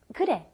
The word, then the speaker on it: 그래: 그래. It's almost a D sound, isn't it? It's in between an R and an L, which almost kind of comes out like a D sound.